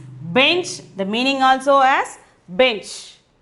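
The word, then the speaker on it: बेंच: Here we are having the bindu. So the pronunciation is bench.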